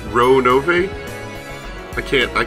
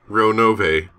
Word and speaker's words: Ronove: Ronove. I'll go with that for now. I remember just being told not to reduce the E to a silent letter.